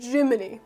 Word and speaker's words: Gemini: So Jiminy is obviously pronounced the same as the cricket from the Disney cartoon, but it's spelled differently, possibly for legal reasons, except it's not that.